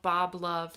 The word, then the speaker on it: BXB Love: by an artist called Bob Love. That's BXB, pronounced like Bob the Builder, she says on all of her social media.